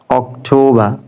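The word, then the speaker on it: October: September অক্টোবা অক্টোবা অক্টোবা যেহেতু আমরা আটাকে silent করতেছি এ ক্ষেত্রে প্রত্যেকটা শেষে আরটা সাইলেন্ট থাকবে September September not September অক্টোবা অক্টোবা অক্টোবা অক্টোবা November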